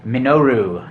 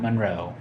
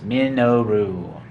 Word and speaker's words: Minoru: than I can count this is Minoru not Monroe I say it wrong all the time I apologize it is Meno rule however you want to